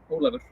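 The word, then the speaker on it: Ólafur: Olafur.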